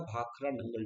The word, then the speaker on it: Bhakra Nangal: Together we pronounce it as the Bhakra Nangal Dam.